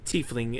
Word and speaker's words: tiefling: Well, given your bloodline, it would seem I've done a little bit of research into tiefling. Is that the way it's pronounced?